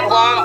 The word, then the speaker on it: bomb: तो देखिए यहाँ पे जब भी एम के बाद बी आएगा ना, तो बी क्या होता है आपका साइलेंट होता है, इसको हम नहीं पढ़ते, प्रोनाउंसिएशन नहीं करते। तो इसे हम कैसे पढ़ेंगे, बॉम पढ़ेंगे, क्या पढ़ेंगे, बॉम।